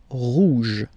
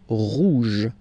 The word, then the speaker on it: rouge: Final E not pronounced, so it will be like rouge, rouge, rouge, okay?